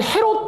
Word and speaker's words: 헤로데: 희곡인 그 성경에 보면 헤롯 왕이라고 나오죠 뭐 원래 발음은 헤로데 합니다 헤로데 일세 성경에는 헤롯대 왕이라고 나옵니다 헤롯대왕 이거 뭔지 아세요